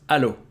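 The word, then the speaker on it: allô: going to be Al it's Alo as if there was only one L alo alo alo so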